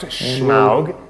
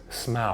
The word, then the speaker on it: Smaug: It's not pronounced Schmaug. Is he trying to be funny? Have a look at them. It's just Smaug.